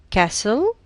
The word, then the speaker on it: castle: l calm silent l castle silent t took silent l island